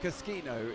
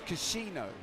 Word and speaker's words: Caschino: chat friend hey james the correct correct pronunciation of caschino is kashino apparently she know because so